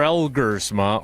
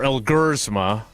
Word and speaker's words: Elgersma: Taylor Elgersma, or Elgersma, depending upon which syllable you put the accent on, will not be re-signed to the practice squad per Bill Huber.